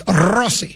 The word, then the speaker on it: Rossi: Well, first of all, you've said his name wrong. It's Russi.